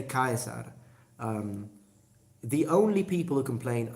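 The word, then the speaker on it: Caesar: reason and I've seen like whenever I say Kaiser the only people who complain are Italians in the comments like everyone else no problem Italians you don't even know it's pronounced chaser well it's pronounced chaser in ecclesiastical at it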